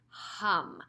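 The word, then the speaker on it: HAUM: Again, I will guide you through it, but just so you know, it's not om, which we usually say a lot in traditional yoga classes. This is H-A-M, hum.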